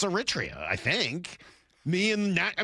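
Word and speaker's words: Eritrea: No, I just know how to pronounce Aritria.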